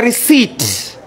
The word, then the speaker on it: receipt: It's a receipt. What is silent? P is silent.